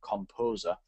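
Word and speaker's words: KompoZer: Googling but the one I like is called composer which is spelled k m p o z ER and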